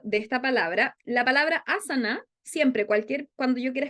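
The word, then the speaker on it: āsana: en la a entonces esa a del comienzo se pronuncia asana y a la última no tiene ese palito asana entonces cada vez que vayan a decir la palabra asana Recuerden que la a del comienzo se pronuncia más alargada que las que vienen y aquí es lo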